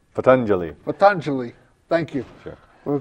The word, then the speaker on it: Patanjali: Let's talk about, so I can do this name, Patanjali. Patanjali.